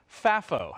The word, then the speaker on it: FAFO: Oh, you also might hear it called uh you know pronounced fafo or f afo.